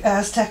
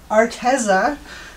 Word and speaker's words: Arteza: the iridescent the aztec aztec oh i keep saying it wrong sorry it is arteza that 10 pack iridescent